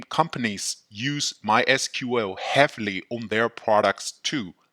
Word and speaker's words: MySQL: The official way of pronunciation is MySQL. It is also common to hear others pronounce it as MySQL.